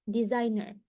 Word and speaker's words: designer: desainer desainer adalah desainer jadi s-nya dibaca seperti huruf z desainer desainer design designer pembuat konten ini adalah